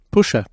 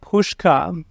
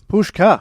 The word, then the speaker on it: Puscha: to Hardware Road and it's time we welcome Pusher hello how you doing yeah good yeah thanks for having me on Adrian my pleasure uh it's pronounced pushka pushka yeah thanks for correcting um no one gets